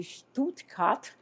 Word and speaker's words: Stuttgart: Até a pronúncia sua é legal, é Stuttgart, né? Nós normalmente falamos assim, Stuttgart. A gente fala para fora e vocês falam para dentro.